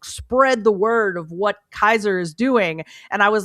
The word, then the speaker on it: Caesar: faction that's very they call themselves uh Kaiser but like it's spelled like Caesar and they are